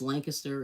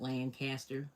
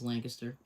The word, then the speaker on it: Lancaster: of, you know, they call it L it's Lancaster. It's not Lancaster or whatever, but that's how they pronounce it is Lancaster.